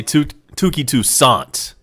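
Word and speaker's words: Touki Toussaint: two saints steps in or should i say tooky toussaint to say it appropriately that's how they say it on tv he swings and misses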